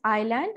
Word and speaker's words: island: and nd that becomes island and not island because s is silent here but the word is